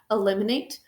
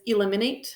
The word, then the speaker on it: eliminate: cap on this because sometimes we do pronounce this word eliminate we muffle the e there and but the proper way to say it is eliminate so I'm not going